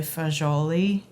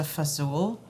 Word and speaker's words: fagioli: sometimes get are about the way we pronounce pasta fajoli verse pasta fazul. So I actually had someone who studies linguistics explain to me that when people say pasta visual is wrong, it's not wrong.